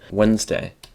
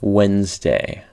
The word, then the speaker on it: Wednesday: very common notorious exception wednesday wednesday according to the actual kinetics it's announced wednesday the d and the e here are silent and the s is pronounced like a z for some reason sounding